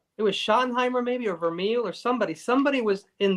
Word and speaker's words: Vermeil: Vermeil.